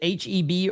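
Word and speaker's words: H-E-B: Is it H EB or is it Heb? I don't know how you say that. Heb is legit. H EB. Okay. They're in Texas. Okay. H EB is how you say it.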